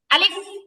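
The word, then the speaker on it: ألف: আলিফ?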